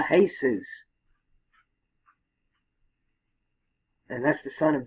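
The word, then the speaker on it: Jesús: these use the Haze's in Spanish that's exactly how you would say this use would be pronounced the hey Seuss and that's the son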